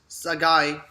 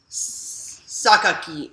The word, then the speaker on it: Sakaki: he says, well, why not release Captain Harura Sagai? Did I say that name wrong? So I'm sorry. Sakaki.